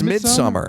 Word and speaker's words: Midsommar: I'm sure you liked it, but Midsommar, right? Midsummer. Is it not? Don't even you disrespect the movies that don't even learn how to pronounce it right. Midsommar. Is it not Midsommar? It's Midsummer.